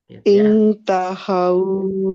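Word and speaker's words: انْتَهُوا: Intahau berarti. Intahau. Intahau. Nah, haunya pendek. Karena tidak ada tanda panjang.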